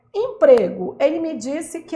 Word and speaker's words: emprego: a última forte empregou não é empregou é emprego emprego emprego a sílaba mais forte é quando você for gritar ela se estende no grito Tá que que eu quero